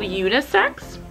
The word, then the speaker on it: Unis3x: first artist is called unisex i think the three is silence i think it's like six black but they pronounce it black you know i'm excited